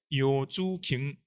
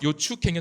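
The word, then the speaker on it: Yeoh Choo Kheng: 이 미셸 요주갱은 사실은 민남 방언의 요주갱 이 소리입니다. 그래서 중간에 CHO는 사실은 추가 아니라 주입니다. 실제 발음. 그래서 요추갱은 사실은 잘못된, 그러니까 원지음과 일치하지 않는 표기라고 할 수 있고, 두 번째 예사 소리로 대응시킨 것도 잘못됩니다.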